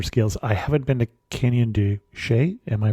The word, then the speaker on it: Canyon de Chelly: be of smaller scales, I haven't been to Canyon de Chelly. Am I pronouncing that correctly?